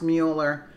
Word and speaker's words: Mueller: Actually, it is pronounced Mueller instead of Mueller, but I've been so used to saying Mueller because Mueller sounds like a mule.